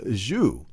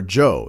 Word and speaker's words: Zhou: the Battle of mui against King wo of zuu or Joe is actually the correct pronounce King wo of Joe and King wo